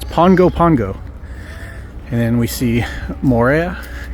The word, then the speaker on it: Pago Pago: So okay, it's not Pago Pago, it's not Pago Pago, it's Pongo Pongo is how you pronounce it, because in Samoan the G has an NG. Yes. Is pronounced that way in Samoan. So it's Pongo Pongo.